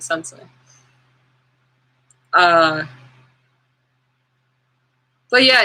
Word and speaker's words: sensei: the youtube laws since sensei not sensai the way i say words is funny too because there are so many different ways of pronouncing words you know it's sensei though that's how uh most of the world pronounces it sensei uh but yeah it's